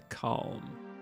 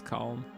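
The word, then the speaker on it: Kalm: Uh, we're going to go northeast to calm. That's calm. Why? Why I make a special effort to pronounce the L and Palmer as well.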